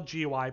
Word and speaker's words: GUI: is graphic user interface spell GUI pronounced GUI and a GUI is